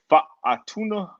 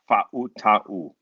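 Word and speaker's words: Fautanu: You got Troy Fatuna. I said it wrong again. Fa'uta'u.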